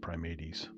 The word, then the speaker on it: primates: is mammalia so all mammals an order is prime 80s this looks like primates but it's pronounced primates and um other people don't want to hear